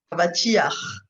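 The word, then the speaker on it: אבטיח: Voilà un exemple où on a le patach que normalement on devrait prononcer après la consonne. Donc normalement je devais a, va, ti, cha. Et comme ici, à la fin d'un mot, le patach devient toujours furtif, ce qui veut dire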